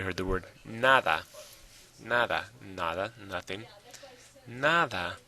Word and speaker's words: nada: the word naada naada nada nothing naada where's the stress naada or NADA well of course it's NADA so yes like I